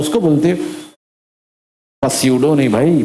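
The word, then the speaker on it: pseudo: ये रहा तो बोलेगा साइकोलॉजी, हाँ बोले पस्यूडो फोर्स। यार पी साइलेंट होता भाई, कैसा पढ़ने का उसको? स्यूडो force.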